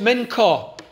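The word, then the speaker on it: מנחה: I was going to go there for all men cow it's pronounced men car which means tribute gift are offering nothing about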